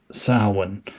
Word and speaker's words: Samhain: And he also wrote, as Loomis pronounced it, Sam Hain, which I guess it's really pronounced Samhain.